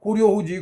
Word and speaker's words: 고려: 코리아라고 그러지. 고려잖아. 고려. 지네식 발음인지 어쩐지 발음이 틀린 거지.